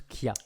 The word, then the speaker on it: chia: même nom pour information ça se prononce qui a oui mais enfin bon